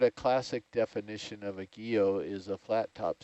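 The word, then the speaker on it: guyot: question but technically a gea it's a guillotine you don't pronounce the t on there okay but um the sort of classic definition of a geo is a flat top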